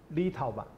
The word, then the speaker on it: Litauen: 音，这个就要念成 Litauen，所以中文的翻译是从德文来的。